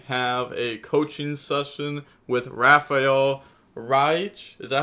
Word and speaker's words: Rafael Reich: Hello guys, the DB Grinder here, back at it again with another video, and this time we have a coaching session with Rafael Reich.